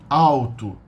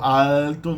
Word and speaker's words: alto: the the adverb in a bad manner you how to how to means high or tall no Alto no Brazil maybe some First Southern people in